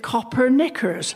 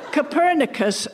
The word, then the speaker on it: Copernicus: A less scholarly person than myself, indeed an ignoramus, might look at the name Copernicus and mispronounce it Copernicers, a garment of extreme discomfort due to its inflexible nature. However, Copernicus, the man, unlike myself,